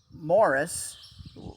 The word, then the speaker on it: Maurice: guess the story goes that that morris in his name is spelled it looks like maurice right uh morris was